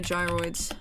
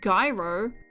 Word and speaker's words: gyroid: I might have been playing this game since fucking I was in the womb, but I don't know how to say gyroids. No, not gyro.